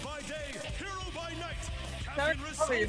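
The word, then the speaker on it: Narukami: I realize I've been saying the main character's last name wrong. Yeah. For like a year. I thought his last name was Nakamura. No, Narakami. And now I'm just actually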